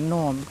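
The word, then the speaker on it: gnome: गनोम पढ़ते हैं जबकि इसको नोम पढ़ना है नोम क्यों ई लास्ट में आया है ई भी मुक है इस ई का प्रोनाउंस करना नहीं करना है और जी एन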